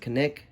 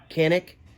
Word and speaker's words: Canik: I was thinking about possibly going CZ, or I believe you pronounce it Canik, C-A-N, Canik, something like that.